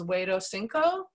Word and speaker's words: Huexotzinco: will tell you that this is called the Huexotzinco Codex. There's two ways to spell it. You'll see the red flag there on the map. Huexotzingo.